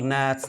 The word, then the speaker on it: gnat: The small gnats, gnat means a kind of insect. G is not pronounced.